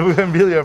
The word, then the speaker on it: bougainvillea: That's a bougainvillea, fresh bougainvillea leaves, yep.